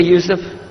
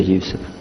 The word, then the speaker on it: Yusuf: Can you say Yusuf? Let me say Yusuf.